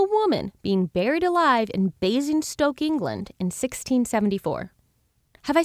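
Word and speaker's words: Basingstoke: being buried alive in basing Stoke England in 1674 have I said that right basing Stoke yeah basing Stoke that sounds right to me great what did you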